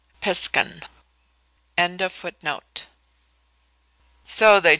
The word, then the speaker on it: Piscan: Pronounced piskan.